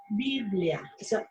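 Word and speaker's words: βιβλία: biblia viene de la palabra griega que se pronuncia biblia es una palabra y así decían viven así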